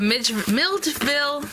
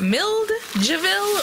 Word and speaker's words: Milledgeville: Because I always remember thinking, is it Milledgeville? Or Milledgeville. It's spelled M-I-L-L-E-D and then G-E-V-I-L-L-E. So like Milled, the G is right after the D, So anyway, this little pair of socks is just kind of out here.